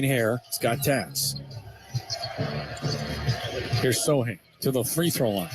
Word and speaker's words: Sochan: No C, so we'll call him Sohan for the sake of argument. Sounds much more exotic. He is number 10. He's wearing green hair. He's got tats. Here's Sohan to the free throw line.